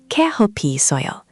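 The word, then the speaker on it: 커피 있어요: Keohpi isseoyo. Can you try? Keohpi isseoyo.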